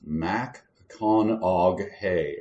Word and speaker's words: McConaughey: I think the only way I can remember McConaughey is it's Mac-con-og-hay, right?